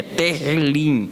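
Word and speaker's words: תהילים: O título em hebraico é Tehillim, a gente fala Teilim, né? É o H, só que no hebraico essa palavra H aparece como R, então a pronúncia é Tehillim, ok?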